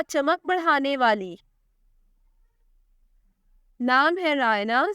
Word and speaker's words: Hooria: नाम है हुरिया। स्पेलिंग है HOORIA।